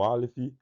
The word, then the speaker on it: Aleph: E o Aleph ele não discutiu por quê? Porque ele é mudo. Não é uma letra que ele tem uma pronúncia por si só. Ele aparece, mas ele não tem um som.